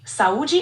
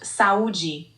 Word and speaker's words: saúde: In Brazilian Portuguese, it's quite similar pronounced sauji. The emphasis on the U is a bit more noticeable.